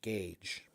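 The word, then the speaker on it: gauge: G A U G is pronounced gage.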